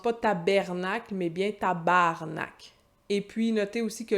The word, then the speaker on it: tabarnak: On entend des fois des Français qui essayent de sacrer comme ça en disant « tabernacle ». Ça n'a aucune crédibilité. Tabarnak.